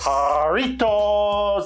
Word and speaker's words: Jarritos: Jarritos.